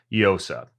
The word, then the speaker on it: Llosa: show is Mr eosa you spell with two L's right llosa did I pronounce that right yes but unlike llama the two L's is a y sound I nailed it and